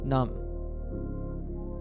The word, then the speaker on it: numb: Words in English that end in MB are usually pronounced with a silent B, so we say bomb. Here are other examples where the letter B is silent. Repeat after me. Comb, lamb, dumb, limb, numb.